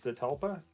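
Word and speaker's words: Zetalpa: spell its name it's the talpa z-e-t-a-l-p-a-t -a-l there it is p-a like pedal with a z and it's uh five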